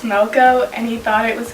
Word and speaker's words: Melko: completely butchered that i my last name is not kunis it's moco and he thought it